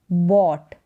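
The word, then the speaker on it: bought: ऑट पढ़ देना है जैसे कि बी ऑट बॉट क्योंकि बी को ब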